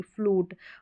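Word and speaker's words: flute: आपको प्रैक्टिस करनी पड़ेगी, फ्लूट। अब इसको फ्लूट या रियूड या ज्यून, इस तरह के यू नहीं पढ़ेंगे, इसमें ऊ साउंड, रूल, ऊ, जैसे यहाँ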